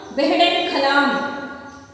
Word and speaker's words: बेहड़न खलाम: बेहड़न खलाम, इसका उच्चारण देखिए बच्चों, बेहड़न खलाम।